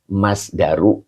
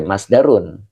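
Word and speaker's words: مصدر: dan lafaz ilafi adalah masdaru alafa ini dibacanya tidak G boleh masdarun ya karena dia mudof mudof dari lafaz alafa ya jadi dia dia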